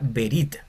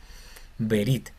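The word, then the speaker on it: ברית: palabra el el cheva, la palabra verit, que es alianza o podemos verlo traducido también como pacto en el Antiguo Testamento, pacto, verit y se pronuncia porque está al inicio en la primera consonante.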